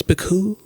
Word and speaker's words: Picoult: But it's Picoult. You let it just kind of trail out there.